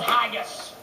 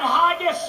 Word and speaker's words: haggis: The national dish of Scotland is called haggis. I don't like to eat anything that rhymes with gaggis.